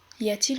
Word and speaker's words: y a-t-il: Y a-t-il une pharmacie dans les environs? Y a-t-il une pharmacie dans les environs?